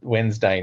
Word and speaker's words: Wednesday: this podcast and they whenever they say Wednesday the guy pronounces the D and I'm like what